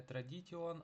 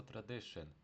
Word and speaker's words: tradition: І пам'ятаєте, да, що в англійській мові читається як шин, тому традиція читаємо не tradition, а просто tradition.